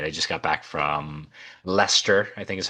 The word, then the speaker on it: Leicester: I just got back from Leicester, I think is how you actually pronounce it.